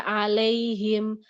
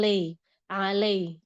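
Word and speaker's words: عليهم: Sering baca alaihim. Alaihim bukan le alaih.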